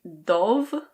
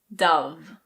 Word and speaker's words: Dove: This one is pronounced just like the bird. I know it looks like "dohv", but it's Dove.